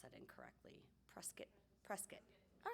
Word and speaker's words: Prescott: sedona i'm sorry if i was if i pronounced that incorrectly prescott prescott all right perfect prescott and sedona um incredibly